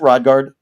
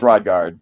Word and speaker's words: Rodgard: Is it Rodgard? That's correct. It's Danish and you wouldn't want to hear what it's pronounced like in Danish. We're going with Rodguard.